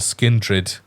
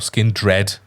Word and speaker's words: Skindred: the main stage and skin drid or skin dread as you like to say um headlining the Sunday